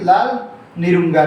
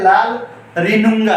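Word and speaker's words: Lalrinnunga: इनको आपने याद, तो एक नाम मैंने गलत प्रोनाउंस कर दिया है, ये लाल निरुंगा नहीं है, इसको याद रखना है, लाल रिनुंगा है।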